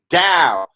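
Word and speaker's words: DAO: a decentralized autonomous organization down pronounce dow like pronounced taoism right and it's spelled d-a-o what that is is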